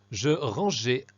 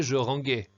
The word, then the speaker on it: je rangeais: Je rangeais AI. Attention à deux points essentiels. Il ne faut d'abord pas oublier le E, qui permet d'éviter de prononcer je ranguais.